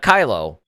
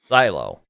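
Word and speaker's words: Cylo: he was a scientist not kylo zylo for anybody out there that's wondering i mean yeah if you if it's if it's a hard c yes it's c c y l o so it's and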